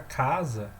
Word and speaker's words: casa: exemplo né exemplos simples a palavra casa tem uma sílaba tônica que é o cá então isso daqui essa